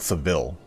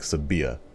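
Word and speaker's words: Sevilla: and uh sebia that's it's not seville as some people call it it's like sabia i mispronounced it i'm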